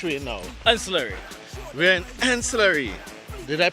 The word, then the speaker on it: Anse La Raye: called waste village we know Eisler we aren't in slurry did I pronounce it right yeah how are we going